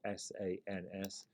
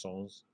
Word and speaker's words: sans: means without it's spelled s-a-n-s people in the states tend to pronounce it as sans but it's a french version so it would be pronounced songs but it means without